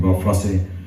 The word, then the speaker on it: Bob Fosse: I don't know how you pronounce the name, Bob Fosse.